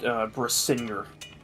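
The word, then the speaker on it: Brisingr: said it's pronounced Brisinger.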